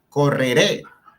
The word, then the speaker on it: correré: Correré, es una palabra que tiene 3 sílabas, pero la fuerza de entonación está en la última, correré, y esa E del final, al ser una vocal, nos indica que por ser palabra aguda, lleva tilde.